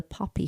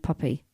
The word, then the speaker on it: Poppy: And it's called the Poppy Foundation. Poppy. Whenever I say that, people think I'm saying puppy.